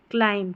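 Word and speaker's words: climb: पहाड़ पे जब चढ़ते हैं तो क्लाइंब कर रहे हैं कहीं पर भी चढ़ाई करते हैं तो क्लाइंब क्लाइम क्लाइम B silent है।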